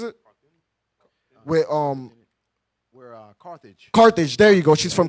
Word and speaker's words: Carthage: uh uh car how do you say it carthins yeah what is it um where uh Carthage Carthage there you go she's from Carthage and they